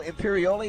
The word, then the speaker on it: Imperioli: Michael Imperioli, is that the way you pronounce his name?